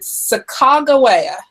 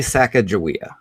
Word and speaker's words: Sacagawea: I read your book that there were multiple pronunciations, but is it Sacagawea? Did I get that right? I think it's actually Sacagawea.